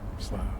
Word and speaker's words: Slough: I expected better out of Slough (sluff) but urr, Slough, yes i know, its pronounced differently.